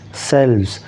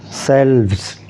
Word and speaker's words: selves: end self self and for the plural you will hear the V sound selves selves okay so keep this